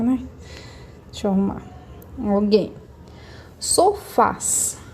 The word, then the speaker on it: sofás: Sofás. Sofás. Qual que vai ser a minha sílaba tônica? Vai ser a última, Fá. Terminei em AS, então acentuada.